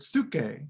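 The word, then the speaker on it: ψυχή: of soul derives from the greek word suke which is spelled like psyche in english and is in fact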